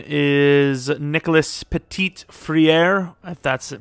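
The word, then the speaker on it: Petit-Frere: have a tackle though his name is nicholas petit friere that's how you say his name it's pretty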